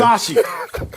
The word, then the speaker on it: Bisaccia: Bisaccia.